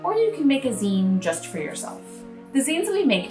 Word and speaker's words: zine: to make seeds and zine is pronounced sort of like the end of the word magazine and a zine is